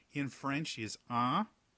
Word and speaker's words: un: through your nose it's it's pronounced entirely through your nose and the same thing